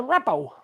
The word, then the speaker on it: rabot: In France, they call it a rabot. Spelled R-A-B-O-T, but you don't pronounce the T.